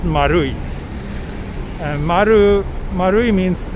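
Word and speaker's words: マルイ: name of that shopping mall right it's actually pronounced marui and maru marui means like circle or round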